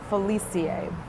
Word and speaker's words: Felice: It's pronounced Zoe, got it, Felicie.